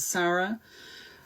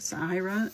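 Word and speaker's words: Saira: I know it's not Sarah, but um I'm not entirely sure how to pronounce it. Sahara is how we're going to go.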